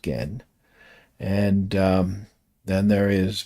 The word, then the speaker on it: Gen: So, it's not Ken, though. It's pronounced Gen.